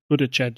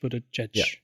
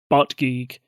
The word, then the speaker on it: Buttigieg: this in my head in my head I've been pronouncing him butgeig um yeah which hence